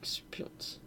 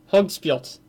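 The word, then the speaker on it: höggspjót: J's are pronounced like Y's in Norse. Hogspjot. Hogspjot.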